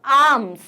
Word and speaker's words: arms: Next होता है आर्म्स। आर्म्स, आपके पास जो ओरिजिनल वर्ड है वो है ARMS, इसमें आर साइलेंट होता है, हम बोलते हैं आर्म,